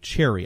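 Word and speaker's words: chary: And again, it's spelled C-H-A-R-Y, cherry.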